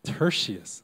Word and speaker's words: Tertius: Tertius? Tertius.